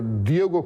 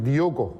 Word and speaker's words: Diogo: kaçırdı Eee ve eee Diego Costa Diego Costa değil arkadaşlarımız yanlış telaffuz ediyor Diego değil Diogo costa'nın atmış yapmış olduğu